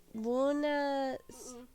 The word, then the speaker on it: Bună: For some reason, the A's in Romania when you say that word Bună. is pronounced with an O.